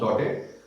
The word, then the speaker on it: Daudet: ये क्योंकि एक फ्रेंच राइटर है, फ्रेंच नेम है, तो फ्रेंच नेम्स में कोई भी जो वर्ड होता है उसमें लास्ट का लेटर यदि कॉन्सोनेंट है तो उसे हम प्रोनाउंस नहीं करते हैं।